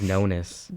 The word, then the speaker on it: Nonis: Yeah, Brad Pascal freaks me out and so does how do you pronounce this? Dave what? Dave Nonis. Dave Nonas.